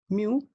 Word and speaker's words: mu: म्यू, we pronunciate it एज म्यू, एंड म्यू का meaning क्या है यहाँ पर?